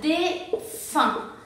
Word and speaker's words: défunt: Después tenemos aquí UN, aquí se va a pronunciar un, entonces tenemos défunt.